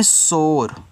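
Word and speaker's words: sore: तो इसको पढ़ते हैं शोर।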